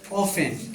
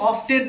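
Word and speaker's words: often: हाउ ऑफ ऑफेन क्या बोलते हैं? हाउ ऑफन। ठीक है? कुछ लोग ऑब्टेन पढ़ते हैं इसको जो कि गलत साउंड है। This is right pronunciation of this word ऑफन।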